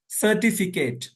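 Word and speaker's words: certificate: बीच आईसी बर्फीला सर्टिफिकेट सर्टिफिकेट देख य पर सी के बाद पहले सी के बाद क्या है ई है तो इसलिए सीन से तरफ हो रहा और दूसरे सी के बाद ए है इसलिए काफ से हो रहा ठीक है ना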